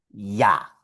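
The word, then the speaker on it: ja: La J en alemán siempre va a producir un sonido de I, como nuestra vocal I.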